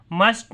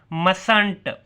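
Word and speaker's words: mustn't: मस्ट नॉट, मसंट। टी नहीं पढ़ना, आपने प्रोनाउंस करना, मसंट।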